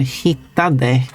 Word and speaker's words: hittade: But when you pronounce it, usually common in speaking, you just don't say the final de as part of it, so you say hitta.